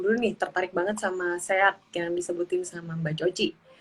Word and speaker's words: SEAD: Dan aku juga tergabung dalam komunitas Sehat Jambi, Mbak. Itu kepanjangan dari Sobat Eksplorasi Anak Dalam Jambi. Gitu. Oh gitu, oke Mbak Coci dari Sehat Jambi. Jadi bacanya sehat ya, Ya, tadinya aku kira sih.